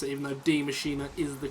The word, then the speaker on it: Die Maschine: your way around the map d machina or dye machine depending on how you want to pronounce it even though d machina is the correct pronunciation i know that some